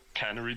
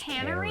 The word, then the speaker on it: canary: Well, usually you can do something about the dying when the canary dies, but here, I mean, it's just inevitable. Why did you pronounce say it as cannery? canary? Yeah, that's a different thing.